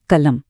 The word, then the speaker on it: कलम: जैसे एक शब्द ले लीजिए कलम। स्पेलिंग देखकर लोग इसे कल प्लस म पढ़ लेते हैं, जो इस गणित में बिल्कुल गलत है।